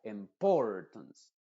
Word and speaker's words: importance: No tiene el estrés la sílaba que tiene el estrés es el Port ser diría importance importance entonces la sh se